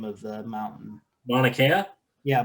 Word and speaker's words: Mauna Kea: right now, and that's for I'm going to butcher the name of the mountain. Mauna Kea? Yeah, Mauna Kea.